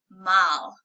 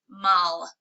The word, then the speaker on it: mal: gracias then we have Mal Mal all of the A's in Spanish are pronounced ah so not a sound it'll be a Mal and that's bad or